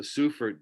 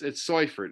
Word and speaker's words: Seufert: Growing up, I always thought this was called the Seufert band shell, but it's Seufert. It's how you pronounce it, Seufert.